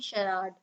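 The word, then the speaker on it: charade: इसकी प्रोनाउंसिएशन होती है शराड।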